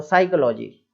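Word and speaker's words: psychology: तो साइकोलॉजी, केवल इतना ही, साइकोलॉजी, है ना, इस तरीके से। पी साइलेंट है, एस के पहले आ रहा है,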